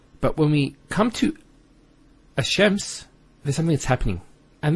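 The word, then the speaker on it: الشمس: close what happens is this lamb is not pronounced and what happens instead is the Lamb is pronounced as a Sheen so there's a actually a shed there here so it's hashems not al-chems which notice when you say al-chems it's not smooth rather than as shems which flows and is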